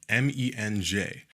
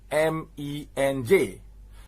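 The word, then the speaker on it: MENJ: after his last video it's not supposed to be pronounced men is supposed to be pronounced m-e-n-j because it's an acronym it's not supposed to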